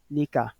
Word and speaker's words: ذلك: De même, ذلك, il va se lire ذلك. طيب, ذلك. L'élongation n'est pas marquée à l'écrit, mais à l'oral, on doit sentir que vous élongez. Mad alif, ذلك.